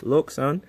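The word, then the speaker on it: LokSound: The decoder that comes inside of this is a lock sound, not lock. I know everyone thinks it's lock. LK. Okay. It's a German company, so they pronounce things funny over there. It's lo. Okay. Got to And you got to pronounce it right, too, cuz it sounds really cool when you say it instead of lock like anybody can say lock. Okay. It's lo sound.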